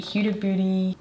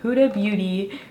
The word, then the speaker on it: Huda Beauty: month let's start with the cute booty that's definitely not how you say it huda beauty glow-ish multi-do skin tint